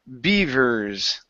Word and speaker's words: beavers: Let's go to beavers. Okay, give me a good V sound. Teeth on top of your bottom lip.